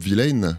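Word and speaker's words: Vylan: On reste, donc c'est Bob Vilaine, ça se prononce comme ça.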